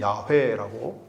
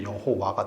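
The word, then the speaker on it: 야훼: 연구하고 한 결과 그것을 밝혀내서 가장 정확한 이름이 야회라고 또는 야외라고까지도 이제 예전에 또 얘기했는데 요즘은 히웃음으로 야회라고 하나님의 이름을 발음을 합니다. 근데 그 야회라고 하는 단어 자음에 아도나이의 모음을 붙이면 그게 여호와가 돼요.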